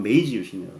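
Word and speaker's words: 明治維新: 이걸 보고 일본 걸로 발음하면 메이지유신이라고 그럽니다.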